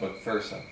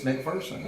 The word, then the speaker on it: McPherson: Technically, as is pointed out to me all the time when I run into people from Scotland, it's pronounced McPherson.